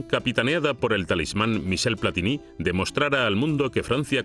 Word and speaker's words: Platini: más cuando era niño la mayor polémica era cómo se pronunciaba su nombre platini o platini porque yo me críe llamándole platini pero se decía platini los franceses comienzan el